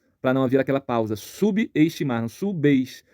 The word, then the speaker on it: subestimar: pausa subestimar sub subestimar o b ele ele ganha uma força Ele ele perde a força do de ser mudo no prefixo ganha uma força de início de sílaba logo aqui aqui também nessa palavra ocorre um erro de separação silábica o b mudo ele se une à vogal da sílaba seguinte então subestimar número três transtorno transtorno